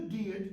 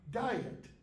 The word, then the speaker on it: Diet: it was called the deet of worms DEET not diet but the same word